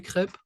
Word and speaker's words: crêpe: Alors, ça s'écrit comme ça, crêpe. We have a little accent circonflexe, ok? Pour avoir le son. Alors, so it's a reminder of like what sound does that E with an accent circonflexe makes.